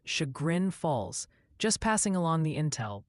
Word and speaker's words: Chagrin Falls: Multiple viewers are insisting Chagrin Falls is pronounced Chagrin Falls, just passing along the intel before they send you back to the ding-dong house.